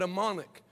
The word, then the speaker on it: Amonic: The guy he was with, you know, first thing he said to my father, this village is called Amonic, which it rhymes with demonic.